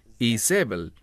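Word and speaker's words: איזבל: Jezabel ahora el término Jezabel Esa es la pronunciación en español en hebreo es isbel y el término I en este caso es como s que significa que ybel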